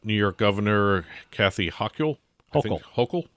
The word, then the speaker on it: Hochul: Hochul. That's how you pronounce it.